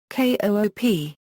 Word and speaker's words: coupe: Most speakers of North American English spell the word without the acute accent and pronounce it as one syllable, coop.